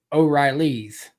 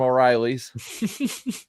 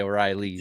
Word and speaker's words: O'Reilly's: It was about as dependable as Auto Parts from O'Reilly's. Because, they won't say it right. They'll say O'Reilly's. Yep.